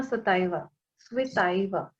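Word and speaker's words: Цветаева: Marina स्विताइवा, इनका सही pronunciation जो है रूसी के हिसाब से स्विताइवा है, और लिखते हैं स्विताइवा करके।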